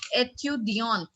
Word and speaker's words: étudiante: Coming on to the next page, when there is an E after the last consonant, the consonant is pronounced. Now, what is that? Like the first one is given étudiant, and the female version of it, the feminine version of it, étudiante. Étudiante, there we will pronounce the consonant because it is being followed by what? Vowel in the end.